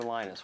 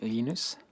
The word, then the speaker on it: Linus: Linus or Linus? What's the exact, your preferred pronunciation? When I speak Swedish, it's Linus. When I speak Finnish, it's Linus. When I speak English, it's Linus.